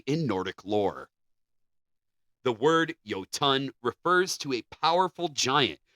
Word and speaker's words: Jötunn: The word Jötunn is pronounced Jötunn, and the J is pronounced like the Y in yes, and the word comes from Old Norse, an ancient language spoken by the Norse people of Scandinavia.